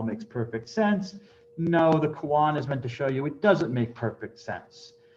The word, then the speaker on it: koan: You'll sometimes hear this mispronounced by Westerners as cone. No, it's from Japanese, it's spelled as it is pronounced, or I should say the reverse. It is pronounced as it is spelled, koan.